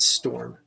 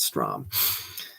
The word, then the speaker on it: Strom: Oh, I almost said Storm. Brett Strom.